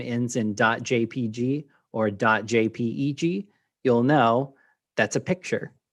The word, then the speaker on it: JPEG: sometimes spelled as j j p e g um you pronounce both of them jpeg and they're the same